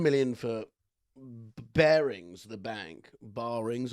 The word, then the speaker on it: Barings: Barings, I don't know how it's pronounced. Bearings, thank you, Jody.